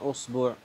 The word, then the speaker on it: إصبع: هي طبعا أصبع وأصبع وأصبع وإصبع وأصبع وأصبع. قال الإمام النووي فيها 12 لغة، الكلمة هذه تنطق ب12 قولا، فلا لحن فيها في الغالب إن شاء الله، متى نطقتها تجد لها بابا صحيحا في اللغة.